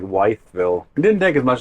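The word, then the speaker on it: Wytheville: back on I77 towards weville I think is how you pronounce it I want to say wythville but I think you're right I think it's more like weville it didn't take as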